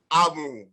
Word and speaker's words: Amu: you should remember that our composer was very particular about the correct pronunciation in the tone-tune relationship. So the correct name, we've heard how Misonu pronounced the name. Amu, Amu, Amu, the name is what? Amu.